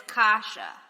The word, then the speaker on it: kasha: kyle except it's kale kasha it's like keisha but it's kasha kombu kombucha you knew that